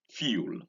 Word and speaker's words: fuel: Well, that is not correct when you say fuel, like you are bringing in a W inside.